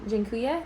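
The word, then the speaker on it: dziękuję: whole lot oh uh actually jinkuya is like the way that you'll hear it said like with an e instead of like uh sojinkuya is thank you um pan means man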